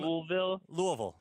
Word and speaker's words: Louisville: correct pronunciation yeah I'm Louisville yeah you don't really hit the Ville so hard it's like slurred both ways like imagine Elvis with marbles in his mouth yeah oh I've had